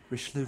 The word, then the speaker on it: Richelieu: Is that how you pronounce that? Yeah, Richelieu red.